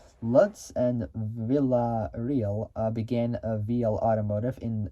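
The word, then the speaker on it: Villarreal: and uh businessman uh Gilbert uh Vel which is spelled uh v i l l a r r e a l luds and Villa real began a VL Automotive in uh 2012 and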